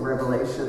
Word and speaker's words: Revelation: you to notice that that word in the name of that book does not have an s on the end of it many people mispronounced that The Book of Revelation they call it Revelations but it's one Revelation